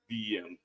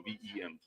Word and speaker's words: Vim: Yeah, that's what I said. What did I say? VEM. VIM? No, VEM. Like Emily. VEM. It's all good. I've been saying it wrong.